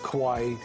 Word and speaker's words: kawaii: Well, there's actually a word for it, kawaii, pronounced like Hawaii. It's a cuteness culture, and it can refer to anything, a human being, an object that's lovable or adorable. You can have kawaii handwriting, kawaii shoes, kawaii little cousins, whatever.